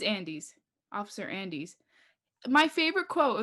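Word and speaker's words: Andes: oh andy's the cop what's how do you pronounce his last name though andy's it's andy's officer andy's my favorite quote of the movie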